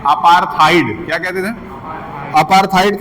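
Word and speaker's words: apartheid: अपार्थाइड। क्या कहते अपार्थाइड का स्पेलिंग लिख लीजिएगा।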